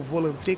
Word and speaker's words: Volante: não para a Rose Volante, ou Volante, como ela própria se pronuncia.